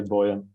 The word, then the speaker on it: Boyan: Like everybody gets it wrong, so I can say Boyan. I mean, in Germany it's a bit easier to say Boyan. Oh yeah, correct. But how do you say it? Boyan.